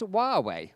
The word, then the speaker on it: Huawei: the first place well as huawei is from guangdong province where cantonese is the main dialect the firm says the name should be pronounced huawei fair enough i can